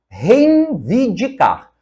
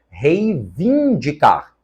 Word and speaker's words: reivindicar: erradas na letra B reinvidicar completamente errada tirar a nasalidade que deveria estar aqui e colocaram na sílaba anterior O correto é reivindicar a segunda sobrancelha Você